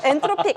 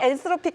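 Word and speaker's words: Anthropic: 엔트로픽 맞죠? 맞아. 누가 발음을 끝까지 누가 엔트로피라 얘기했다 막 그러는데 엔트로픽 엔스로픽 다 맞습니다.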